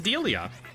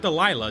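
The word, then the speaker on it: Delia: Her name's Dileia, not Delilah. Dileia. It's spelled with the same letters, but in a different order.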